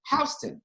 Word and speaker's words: Houston: a Joe you sto in Houston you come to New York and there's a street there but it's pronounced Houston yeah and then you come